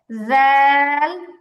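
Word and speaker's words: ذال: এরপরটা হচ্ছে জাল ল জাল ল। আচ্ছা আবার জাল ল। স্পষ্ট উচ্চারণ হবে, স্পষ্ট উচ্চারণ হবে।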